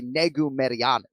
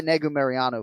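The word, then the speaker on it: Negumereanu: for today is nikolai negu meriyanu right or five syllable surname so nikolai nego mariano fights uh this fellow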